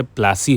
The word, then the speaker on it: Plassey: था पलाशी पलाशी तो ब्रिटिशर्स इसको स्पेल नहीं कर पाते थे प्रोनाउंस नहीं कर पाते थे पलाशी को तो व पलाशी से प्लासी हो गया इसलिए इट is known as battle of प्लासी यह देखिए यह तब